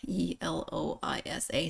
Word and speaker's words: Eloisa: five letters in eloisa e l o i s a six uh but it's four syllables there's almost as many syllables as there are letters this is the way